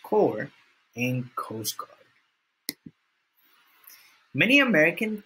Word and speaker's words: corps: army navy air force marine corps pronounced core and coast guard many